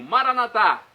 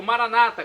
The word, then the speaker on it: Maranatá: Agora, do aramaico eu clamo, Maranatá, como dizemos nós católicos, ou Maranata, como dizem nossos irmãos separados, os evangélicos ou protestantes.